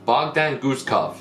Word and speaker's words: Bogdan Guskov: Bogdan Guskov. That's That's how you say his name.